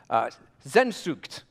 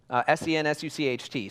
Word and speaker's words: Sehnsucht: The Germans have a word for it, which I will now mispronounce for all of you. Sehnsucht, or something like that. Sensucht. Sehnsucht.